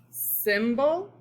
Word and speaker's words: symbol: These are the words symbol and type. What vowel does the Y sound like in the word symbol? Symbol. The short I, right? It sounds like a short I.